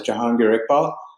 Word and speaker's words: Jangpal: My name is is pronounced as Jangpal and um happy to be here.